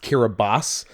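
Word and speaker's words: Kiribati: kirati but it's pronounced kiraboss cuz TI makes an S sound in their boab Booga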